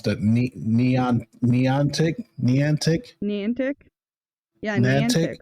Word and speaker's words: Niantic: I don't know how to pronounce that. Niantic? Yeah, Niantic, right?